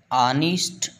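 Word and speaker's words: honest: ऑनेस्ट ईमानदार, डिसऑनेस्ट बेईमान। बच्चों इसमें एच साइलेंट रहेगा।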